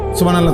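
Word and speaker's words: سبحان الله: পরে এটারে মেশিনের মতো সুবহানাল্লাহ সুবহানাল্লাহ সুবহানাল্লাহ সুবহানাল্লাহ সুবহানাল্লাহ, কিচ্ছু হয় না। হা উচ্চারণ না হলে তো তাসবিহ হয় নাই। শেষের গোল হাটা সাকিন করতে হবে এবং প্রত্যেকবারই নিঃশ্বাস ফেলতে হবে।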